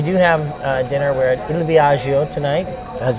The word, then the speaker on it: Il Viaggio: We're at Il Viaggio tonight, as it's properly pronounced, which is the premium Italian restaurant.